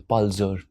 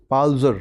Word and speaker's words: Palzer: Sir, Palzer. Palzer. Yes, sir. Okay. is good pronunciation?